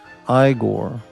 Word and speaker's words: Igor: I don't, 3 months ago, I kind of abandoned, for my own good, that island, Morty Feldman is my favorite Igor, pronounced Igor.